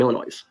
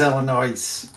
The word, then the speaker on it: Illinois: Illinois is it is Illinois what are you talking not Illinois I live here it's not Illinois I promise you it's Illinois I don't believe you I think you're mispronouncing leave the ass off it's like jalapeno leave